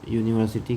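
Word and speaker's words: university: जैसे हम यूनिवर्सिटी की बात करें तो यूनिवर्सिटी को देखने से क्या लग रहा है? हमें एक वोवेल वोवेल दिख रहा है। है ना? बट इसका प्रोनाउंसिएशन क्या हो रहा है? यू। सो you means it इज our consonant sound.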